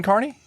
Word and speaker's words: Kearney: of something okay you there's a museum in Kearney I was for Kearney in history and um